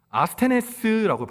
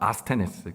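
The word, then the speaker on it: ἀσθενής: 아스테네스라고 발음합니다. 아스테네스.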